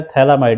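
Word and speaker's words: phthalimide: ये जो लिखा है थैला माइड यहां पर पी साइलेंट होता है एक्चुअली लिखा पर थैराम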